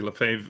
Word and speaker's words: Lefebvre: Uh, my name is Lefave. I usually just call me because nobody ever wants to spell or pronounce Lefave.